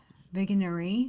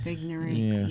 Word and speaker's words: Vigenère: How would you pronounce this, if you don't mind? Vigenère. Yeah, right. Vigenère.